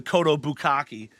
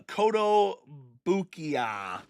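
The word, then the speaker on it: Kotobukiya: Because I always call it the the Cotto Bukaki. Um it is the uh Cotto Bukia.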